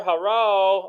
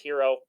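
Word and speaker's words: Herro: Which, by the way, why does he spell his name with two R's? How it's spelled like Haro. Tyler Haro. Anyways, I think it's pronounced Hero.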